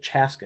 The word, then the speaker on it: Chaska: chaska getting a shot and he pronounced it chaska he pronounced it correctly he did the pride of